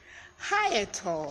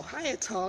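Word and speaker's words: hyetal: world of our word of today is hiatal high at all high at all is pronounced h ye g and it's an adjective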